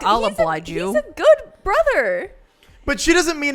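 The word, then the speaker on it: Gou: So you think that it is actually just supposed to be Go, not Ko?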